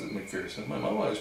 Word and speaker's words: McPherson: Technically, as is pointed out to me all the time when I run into people from Scotland, it's pronounced McPherson.